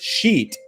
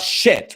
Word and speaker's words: sheet: Yes, it's sheet. It's not shit, right? It's sheet.